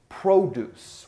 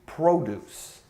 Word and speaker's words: produce: you would say throw with the long Oh like you're going to accentuate the Oh produce we're talking about vegetables and fruits in the grocery store it's going to be produce and then produce prop